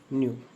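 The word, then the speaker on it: knew: एस टी ब खरीद चुका नो नो जनना न्यू के एन ई डब्ल्यू न्यू read red read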